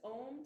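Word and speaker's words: Aum: phonetically a m and it's pronounced a like in Father ooh like in room and then we bring our lips together for M and then there's a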